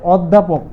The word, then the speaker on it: অধ্যাপক: ছয়টি তার ঠিক তদরূপ যদি অ যদি আমাদের জ ফলা থাকে তাহলে আমাদের কি হবে আমাদের ও হবে ঠিক আছে উচ্চারণ যেমন হচ্ছে অধ্যাপক অধ্যাপক তাহলে শব্দের শুরুতে